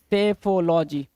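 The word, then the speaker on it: psephology: सेफोलॉजी, P silent होगा, सेफोलॉजी बोलेंगे, सेफोलॉजी। सेफोलॉजी, सेफोलॉजी क्या होता है सर?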